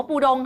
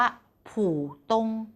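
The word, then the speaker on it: 浦东: อะไร อันดับ ที่ 2 ไม่ ได้ ออก เสียง ว่า ปู ดง ค่ะ จริง ๆ แล้ว คำ เนี้ย ออก เสียง ว่า ผู่ ตง ผู่ ตง ฟัง แล้ว เหมือน มี วรรณยุกต์ ด้วย ถูก มั้ย คะ สระ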